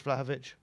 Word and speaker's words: Vlahovic: I wouldn't be surprised at all if it's Vlahovic, who I've just learned to say his name correctly, so it's got to happen.